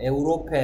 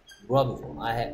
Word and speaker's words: Europe: 에우로페 아니고요. 물론 에우로페라고 읽는 동네도 있긴 하지만 영어로 읽을 때는 유럽이죠. They have been to Europe twice.